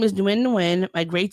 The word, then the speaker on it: Nguyen: So Flaws tweeted out, yes, her name is Ningyun, my grade 6 classmate. Nguyen. Wait, what did I say? Nguyen. Oh, yeah, thank you. The G is silent. Her name is Nguyen, my grade 6 classmate that sat in front of me.